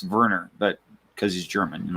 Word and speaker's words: Werner: so yeah werner you in english you'd say werner get g-i-t-t but it's actually he pronounced verner but because he's german and all that right